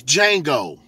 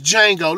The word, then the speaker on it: Django: The name of the movie is Django. The word looks like Django, but the D is silent. The name of the movie is Django.